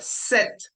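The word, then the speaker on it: sept: sis then we have set set ending with t right the P which is in blue you don't pronounce okay but the T you pronounce and then we have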